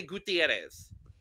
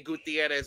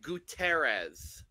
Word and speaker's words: Gutierrez: the love of Jesus why can RuPaul not say Gutierrez Lord Lord David you could say it right please gues thank God